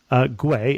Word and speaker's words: Guay: what it is, but it's Guay, as in Uruguay.